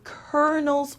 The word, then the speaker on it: colonel: sanders etc for example i had to follow the kernel's order so here the l sound is not pronounced at all it is uh it turns into an r okay anemone an anemone